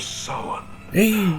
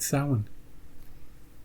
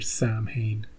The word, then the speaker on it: Samhain: The festival of Samhain. Hey, he said it. He said it correctly. He said Samhain. Did you hear that, Donald Pleasance? You and your Sam Hain.